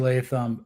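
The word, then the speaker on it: Latham: did I nail that name Johnny is it leam yeah it's JC leam uh Blue Chip Prospect coming out you know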